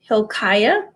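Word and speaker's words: Hilkiah: prophet he was the son of a priest Hill Chaya that's how you say it um he remained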